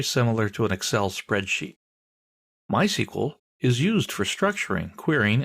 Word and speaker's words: MySQL: so what is MySQL well it's a version of SQL we'll talk about that in a minute people in the know don't say MySQL they say my SQL that's generally how it's